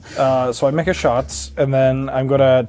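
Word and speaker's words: Schatz: In case it's unclear, Wheeler has a German printing of treasure that is spelled S C H A T Z, which is pronounced, we're told, shots.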